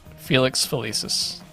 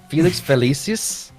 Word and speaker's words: Felix Felicis: Crouch use how do you say It felices Felix felicis did Barty Crouch use Felix felici's in order to impersonate Moody did I say that right close enough use Felix felices felices yes Felix felicis in order to impersonate Moody subscribe to Fan